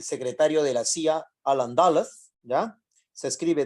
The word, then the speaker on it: Dulles: El secretario de la CIA, Alan Dulles, ¿ya? Se escribe D-U-L-L-E-S, se pronuncia Dulles.